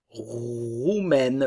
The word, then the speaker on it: roumaine: Roumaine, le E ne se prononce pas. Et le A et le I dans ce cas donc vont se prononcer E.